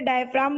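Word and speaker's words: diaphragm: Muscular plate is called डायफ्रागम। वैसे डायफ्राम बोलते हैं पर जी साइलेंट होता है, तो हम जी को प्रोनाउंस नहीं करते।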